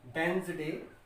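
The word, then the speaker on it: Wednesday: गलत इसको पढ़ते हैं, तो इसको सही मैं जो इसकी प्रोनाउंसिएशन है दैट इज वेंसडे। क्या पढ़ेंगे इसको? वेंसडे। तो यहाँ पर डी अपनी साउंड नहीं दे रहा है, डी इज साइलेंट हियर।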